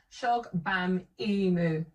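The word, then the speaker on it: Shogbamimu: Now read it phonetically. Mos. Shog Bam Imu.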